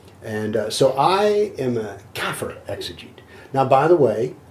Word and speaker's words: kafir: am except i'm a kafir exogenous yes let me define kafir or by the way i'm told that all my arabic pronunciations are dreadfully southern i think they say kaffir so are your english